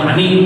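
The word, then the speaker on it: مانع: Ada syarat, ada rukun, ada mani'. Saya bacanya benar. Mani', mim alif nun ain. Sebuah pencegahan, bukan mani. Kalau mani bacanya maniun, sperma. Mani.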